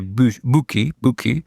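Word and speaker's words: Büchi: You have to pronounce it like not just in German, in Swiss German to get the Swiss German. Swiss Deutsch.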